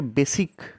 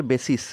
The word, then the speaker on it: basis: তো এই যে এই টার্মটা বেসিস এটাকে অনেকে বেসিক বলে উচ্চারণ করে। বি এস আই সি বলে কিন্তু মানে ভুল করে বলে আর কি। কিন্তু প্রপার এর প্রোনাউন্সিয়েশন হচ্ছে বেসিস বি এস আই এস লাস্টে সি হবে না কিন্তু হ্যা লাস্টে এস